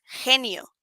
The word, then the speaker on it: genio: genius, but en Spanish, en español pronunciamos genio. Cuando tenemos esta G junto a una letra E o la letra I, se pronuncia como un J, como una J, como J, that sound.